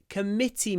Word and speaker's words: committee: when is our next committee meeting committee the stress on the second syllable Comm the next one